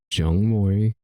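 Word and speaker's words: 중모리: Pronounced Jungmori is a type of pronounced Jongdan, Korean traditional rhythm.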